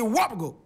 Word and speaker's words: Wobogo: of Mand by name wgo repeat after me wgo w w wo Wu simply means the